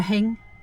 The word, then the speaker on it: thing: But in particularly around Glasgow and the West Coast where I'm originally from, anything that began with TH is pronounced with H. So a thing's a hing.